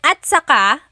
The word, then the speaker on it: at saka: Okay, and then at saka, technically it's spelled at saka. But when it's pronounced, remember the TS combination, it makes that ch sound. At saka.